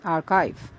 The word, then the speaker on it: archive: It's pronounced as archive.